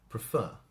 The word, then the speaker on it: prefer: but we can see offer offer the stress is on the first part prefer prefer stress is on the second part if you don't believe